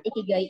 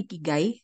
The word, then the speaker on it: ikigai: Kalau nggak salah, cara bacanya itu bukan ikigai, tapi ikigai. Jadi kayak dia konsonan-konsonan apa maksudnya di bahasa Jepang itu biasanya dua-dua gitu terus dan satu huruf vokal.